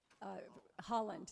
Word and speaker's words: Haaland: Also, it was heartwarming to see the tribes there, both the Mississauga and the Seminole, and of course, do you pronounce her name Haaland? Holland, thank you, sorry, who is from the Department of the Interior.